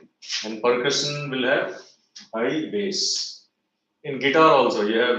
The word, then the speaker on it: bass: तो उसको इंग्लिश में bass and treble बोलते हैं. So this is more bass या bass क्या बोलते हैं? How it is pronounced as bass? It is bass, bass, and this is high treble.